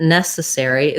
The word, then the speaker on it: necessary: Looking at necessary, this is a good example of spelling and sounds not always lining up. So we have first syllable stress. There's our E that says like red tent. So ness. This letter C says the S sound, nessa. Then this letter E is unstressed and short. So rather than nesses with another